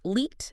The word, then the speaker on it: Liet: So Liet is pronounced leet, emphasis on the long E, and stretch the ut a bit.